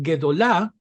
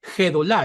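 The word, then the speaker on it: גדולה: o la J caribeña por eso en palabras como guedolah nosotros la transcribiremos siempre como guedola porque de otro modo algunos lectores tienden a pronunciarla como si dijera gedolá Y eso es incorrecto En estos casos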